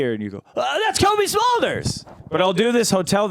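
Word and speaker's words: Cobie Smulders: the name is smolders Kobe smolders okay spell that for me it's like a smoldering Kobe beef slider that's how you can remember it right got it okay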